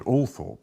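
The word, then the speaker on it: Althorp: we should call it all Thorp shouldn't we well it's two things it's one of the very few names in England that has two official pronunciations according to the BBC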